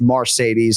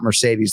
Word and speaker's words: Mercedes: that it is indeed pronounced marcedes and not Mercedes like the Benz is that right correct